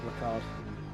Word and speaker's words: Ricard: I've had some good races on Paul Richard, don't get me wrong, but the track itself is not particularly enjoyable. And no, I'm not saying his name wrong. I refuse to say Ricard.